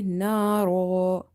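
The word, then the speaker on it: نارا: So if you're pausing, you will say naro. You will drop the one fatha.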